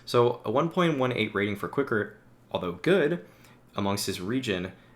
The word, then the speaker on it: Qikert: I know many of you guys commented that it is not Boombla, as I said before, trying to read it phonetically, but here we are with Qikert.